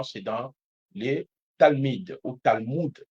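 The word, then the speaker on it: Talmud: dans les talmides ou talmoud si la prononciation n'est pas correcte pour les autres tu peux dire talmoud çaàd t a l m U2 t a l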